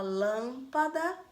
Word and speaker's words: lâmpada: Quando você fala lâmpada, lâmpada. Qual foi a sílaba que você mais demorou quando você chamou?